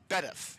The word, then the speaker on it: Bedworth: chairman was it's pronounced Bedworth. You don't pronounce the W.